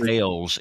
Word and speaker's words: Versailles: Versailles, if you're in Kentucky, by God. It ain't Versailles, even though it's spelled the same way.